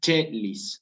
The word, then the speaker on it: caelis: Esa palabra se va a decir chelis.